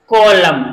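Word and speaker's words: column: ल यू एम एन इसको हम क्या पढ़ेंगे कलम यानी लास्ट में अगर एम और एन एम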